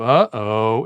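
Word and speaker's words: uh-oh: word right huh so it would instead of uh oh it would be uhoh that has a glottal stop at the start of the word you age uh if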